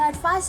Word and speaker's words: advice: And advice is pronounced with an ending sound like ice.